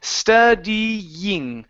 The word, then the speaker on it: studying: Right here, this is studying. So it's ying, studying. Studying.